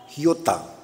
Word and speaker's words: iota: en el griego es ni una iota la palabra más pequeña del alfabeto griego se pronuncia giota ni una giota o